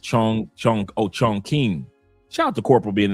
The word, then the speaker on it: Chongqing: It's pronounced Chong Chong. Oh, Chongqing.